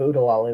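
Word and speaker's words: Oo-De-Lally: and not in Nottingham wow you killed the pronunciation of UD deali there well I've only seen the movie a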